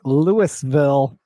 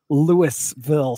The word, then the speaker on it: Louisville: So I have this problem every single time we do Imaginarium where I want to say Louisville so bad and pronounce the S, and I have to literally talk myself out of it every single year that I go.